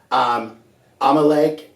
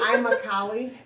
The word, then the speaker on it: Immokalee: Immokalee, that one gets butchered a lot. A lot. What have you heard lately? Amalek or whatever, like it doesn't even Amalek? line up. It's Amalek like- it's what? like- Right. I'm a Cali.